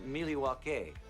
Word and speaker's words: Milwaukee: Actually, it's pronounced Milwaukee.